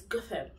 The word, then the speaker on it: Gotham: Sorry, when you're watching Gotham, you say Gotham City. It's Gotham. Gotham.